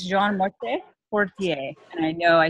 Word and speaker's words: Jean Martin Fortier: And we did a little practice of his beautiful name pronounced in the French way.